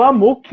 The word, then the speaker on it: amok: Amok, pronunciado Amuk, é uma palavra do idioma malaio que significa fora de controle.